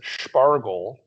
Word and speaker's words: Spargel: Well, they call it Spargel which they pronounce it Spargel.